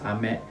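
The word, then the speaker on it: 飴: this is ame and this is ame so they are almost same pronunciation but meaning of each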